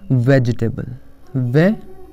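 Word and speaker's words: vegetable: वेजिटेबल, या गलत गलत तरह से लोग बोलते हैं बल्कि करेक्ट प्रोनाउंसिएशन इसका होगा वेजिटेबल।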